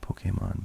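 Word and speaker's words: Pokémon: It's Poke, which is why the E is accented there. So I should be saying Pokemon, but forgive me if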